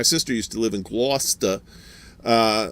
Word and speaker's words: Gloucester: used to live in gloucester uh or as uh the southerners call it uh glow glow cester uh because they don't that's true you know they don't know how to pronounce that word worcestershire sauce uh all